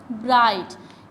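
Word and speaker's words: bright: Long vowel GH से पहले है, साइलेंट GH है, तो आई को हम लॉन्ग वावल में पढ़ेंगे, तो ये क्या बन गया, ब्राइट।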